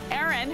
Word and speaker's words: Aaron: this one so magical Aaron who rhymes with Karen I think if your